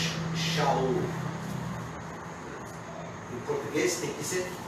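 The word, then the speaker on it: שאול: Seu nome em hebraico, a pronúncia é um pouco diferente, porque nós adaptamos a pronúncia hebraica para a língua portuguesa. Em vez de ser Shaul, nós lemos Saulo ou Saul. Porque em português não tem aquela letra SH.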